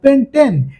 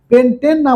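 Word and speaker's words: pentene: দ্বিবন্ধন এই যে দ্বিবন্ধন দ্বিবন্ধন থাকলে উচ্চারণ করতে হবে কার মতো ইন এর মত ওই জন্য যখন এরকম পাঁচটা কার্বন অর্থাৎ পেন্টেন পেন্টেন না বলে আমাকে কিন্তু এখন কি উচ্চারণ করতে হবে পেন্টিন অর্থাৎ এই দ্বিবন্ধন থাকার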